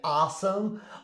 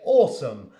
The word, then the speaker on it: awesome: I obviously pronounce it in a British accent. I don't say awesome, I say awesome.